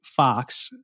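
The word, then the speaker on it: Faux: to read this book Zeke fox fox is spelled f-a-u-x wrote a book called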